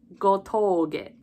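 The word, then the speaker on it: 吾峠: But in this spelling, it's Gotouge to symbolize the elongated sound. So, Koyoharu Gotoge.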